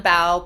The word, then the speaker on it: Pao: Follow me on LinkedIn, Bao, P-A-O. It's pronounced like a B.